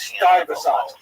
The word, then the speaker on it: Stuyvesant: Stuyvesant. Am I saying that? I don't speak American very well. And so the guy wrote on the YouTube channel, he says, you know, Americans know it's pronounced Stuyvesant.